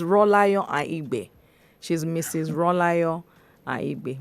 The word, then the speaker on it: Aigbe: It's Aigbe, not Akibe, Abi? It's Ahigbe. Aki. Is it Ahi? Ahigbe. The K is silent. Aigbe. Yes, so I got it. Yes. Okay, So so I think it's just there to confuse people.